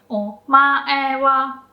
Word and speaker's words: お前は: So お前は, only o is low.